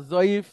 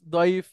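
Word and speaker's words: ضعيف: তো আপনাদের যদি ওরকম হয়, তো জয়ীফ দয়ীফ এটা ব্যাপার আছে। দয়ফুন মানে মেহমান, হ্যাঁ, দয়ফুন মানে হচ্ছে মেহমান।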